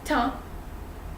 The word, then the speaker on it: temps: Once again, you don't pronounce p and s. It's temps.